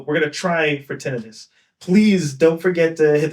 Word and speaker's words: tinnitus: I did Google it beforehand and it is pronounced like tinitis and here's evidence of the Google pronouncing it right now. So we're going to try for tinidis.